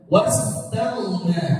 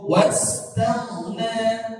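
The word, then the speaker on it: وَاسْتَغْنَى: Jangan sampai dibaca wastaghna atau dibaca tak atau tak. Enggak boleh. Wastaghna. Nah, di sini nanya ujungnya dua harokat. Wastaghna. Jadi jangan terlalu panjang. Jangan dibaca wastaghna. Itu banyak. Cukup wastaghna.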